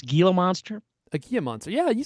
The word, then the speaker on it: Gila monster: a thing I still don't know how to pronounce Gila monster a Gia monster yeah you said it right okay good uh